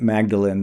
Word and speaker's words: Magdalen: Magdalen College is spelled Magdalene, but it's pronounced Magdalen.